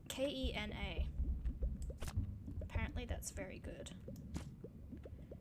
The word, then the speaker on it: Kena: Is I think it's pronounced Kenya? Not the country. I haven't been hearing anything about the country, but Kena.